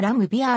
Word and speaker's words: Laimbeer: ボストン生まれ生のレーンビールはラムビアーのように発音されカナ表記ではランビアが原音により近いは日本ではしばしばレインビアと紹介される